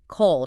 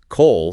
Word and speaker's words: Cole: Cole sounds phonetically like call, as in someone receiving a message, a frequency.